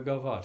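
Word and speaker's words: gavotte: one two yeah that's the definition of a govart it's it starts on the third beat of four oh how do you spell that g-a-v-o-t-t-e it's French okay um that's probably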